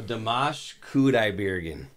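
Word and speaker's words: Dimash Kudaibergen: a really beautiful voice so damash cudai Bean is how you pronounce his full first and last name from Kazakhstan what are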